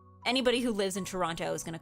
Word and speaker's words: Toronto: anybody who lives in Toronto is going to call it Toronto. I think the closer people live to Toronto, like the less the less they pronounce that second T.